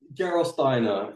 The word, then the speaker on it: Gerolsteiner: Can you pronounce that for me? Gerolsteiner.